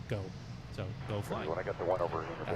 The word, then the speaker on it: Geaux: It's I'm originally born in Louisiana and uh all the Cajun heritage there, the French heritage there, G AUX is often pronounced go.